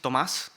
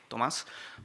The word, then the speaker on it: Tomás: But my name is, actually in Spanish is Tomás, so the accent is in the A, Tomás, but I never correct people that call me Tomas because I'm used to it.